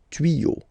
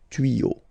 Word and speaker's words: tuyaux: Okay, des tuyaux. Same rule, you don't pronounce it. Des tuyaux. Okay, un tuyau, des tuyaux.